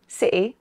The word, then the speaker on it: city: But we can also pronounce the letter T as a glottal stop, in many accents. Some people do this in between vowel sounds like in city, sɪʔɪ, and writing, raɪʔɪŋ.